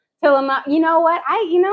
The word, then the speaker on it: Tillamook: working at saying it's Tillamook. Tillamook.